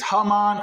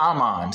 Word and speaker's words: Haman: promote Haman right it's Haman or Aman same thing the son of Hamad right or Amad because sometimes the H is silent the agagite the agagite